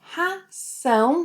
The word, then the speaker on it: ração: Because the word ração with an S sound means animal feed.